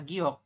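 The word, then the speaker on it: 기역: apa GK berarti G giok giok Ya seperti ini jadi kepanjangannya adalah giok teman-teman kalau dalam bahasa ininya dibacanya giok seperti ini Oke giok Nah gini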